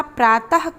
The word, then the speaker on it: प्रातः: हो जाएगा दूर शील प्रात काल प्रात काल नहीं होता प्रातः काल होता है यहां पर प्रांत के बाद विसर्ग का प्रयोग होगा और इसका उच्चारण करेंगे प्रातः प्रातः काल यह शुद्ध शब्द होगा